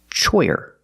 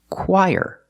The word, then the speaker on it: choir: This word is not pronounced choir. It's pronounced choir. Very different than how it looks. So the CH makes the K sound, like the letter K, K, K.